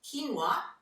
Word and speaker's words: quinoa: as well as quinoa it's spelt quick Noah but quinoa is as a good source